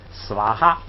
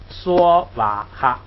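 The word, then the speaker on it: स्वाहा: 不必说哈，这个梵文的这个苏瓦哈呢，好像我听着就是斯瓦哈，这个有的呢简单的就读成梭哈，咱们现在就是取其中间读梭瓦哈这样啊。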